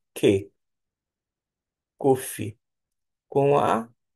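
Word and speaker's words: קוף: Agora nós temos o cof, que é equivalente ao Q de queijo. Cof. Cofe. Cofe com que com e que cofe com a K e assim por diante.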